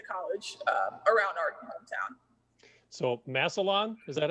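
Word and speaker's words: Massillon: that's what pops into my head it's actually pronounced maslin but it's people people mess it up all the time so messalin okay now jackson high school right so i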